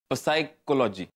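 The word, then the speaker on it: psychology: ना मी R silent सायकोलॉजी सायकॉलॉजी अरे पण तो पी आहे ना ओपनिंग बॅट्समन हो पण इथे पी सायलेंट आहे अरे पण मगाशी आर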